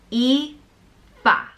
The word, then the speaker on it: Aoife: which means beauty and it's pronounced e ba Aoife it's spelled aoi f